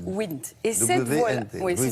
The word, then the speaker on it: Wnt: WNT, mais on prononce WINT.